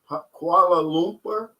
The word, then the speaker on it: Kuala Lumpur: i'll buy a ticket to uh kuala lumpur kuala lumpur is how you pronounce that that's malaysia yeah that's um that's